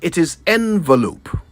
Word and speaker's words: envelope: completely surround either way it is never pronounced with an O at the beginning so that's settled it's envelope not envelope and most